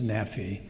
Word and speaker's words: Nephi: Thus, NPY that we transliterate would be pronounced as Nephi.